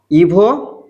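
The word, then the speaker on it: его: ইভো ইমিয়া। আমি তার নাম ইভো এটা এটা এটা হচ্ছে গে কিন্তু এটার উচ্চারণ ইভ হবে ইয়া পমন ইভ ইমিয়া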